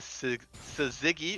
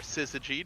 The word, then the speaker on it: syzygy: out now shyvana has the su ziggy or syzygy depending on how you want to pronounce it ziggy i have never